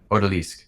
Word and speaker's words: Odalisque: Odalisque.